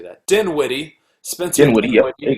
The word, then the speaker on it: Dinwiddie: Dinwiddie.